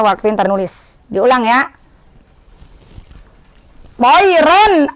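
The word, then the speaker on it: طيرًا: Toiron ababil, bukan toiro. Kan ada yang toiro. Toiron ababil, karena dia hukumnya idhar halki.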